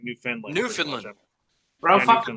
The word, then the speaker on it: Newfoundland: Newfoundland's dope, man. Their fishing community is dope. Sorry, you gotta say it fast. You gotta say it fast in Canada. They say it like Newfoundland.